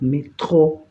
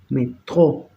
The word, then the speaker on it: métro: Se acentúan todas las palabras en francés, se acentúan en la última sílaba. Es por eso que yo digo métro, métro, métro, en tro se acentúa.